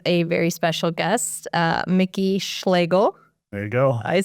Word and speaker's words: Schlagel: I am here today with a very special guest, Micky Schlagel. There you go. I said it right. You got it. Schlegel like bagel.